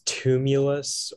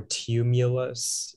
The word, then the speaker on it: tumulus: Yeah, so the word is tumulus or tumulus.